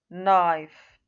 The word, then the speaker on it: knife: Here also we say knee, knife, knock, no. The K is silent and not pronounced.